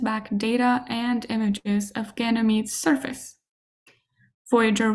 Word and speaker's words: Ganymede: These names or the names of these moons are spelled in Italian and in English with a final e in Ganymede's name uh which is silent and that is different from later moon names that are taken from Latin and Greek.